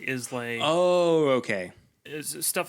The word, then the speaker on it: Islay: Yeah, instead of Isla, people say Islay.